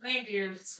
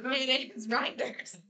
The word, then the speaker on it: Reinders: I know exactly how to say it. Not reindeers. Kate Reinders. Aw. Captain C.